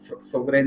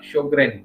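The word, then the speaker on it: Sjögren: तो ये शुरुआत में तो मैं इसको सोगरेन सिंड्रोम पढ़ने लगा, फिर जॉगरेन सिंड्रोम पढ़ने लगा और फिर मेरे बेटी ने कहा कि उसका शोग्रेन सिंड्रोम ये उसका एक्यूरेट प्रोनाउंसिएशन है।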